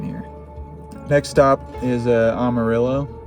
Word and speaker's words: Amarillo: next stop is a Amarillo Amarillo Amaro Amaro that's how you say it in Texas and then uh Oklahoma